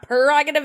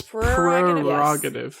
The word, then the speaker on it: prerogative: word prerogative is that it has a secret R in it which is great for